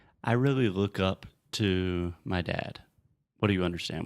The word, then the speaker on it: Tom: Tom. Fechar a boca com M.